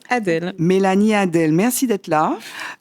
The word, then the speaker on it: Adèle: Voilà, ça s'écrit Adol, mais ça se prononce Adel.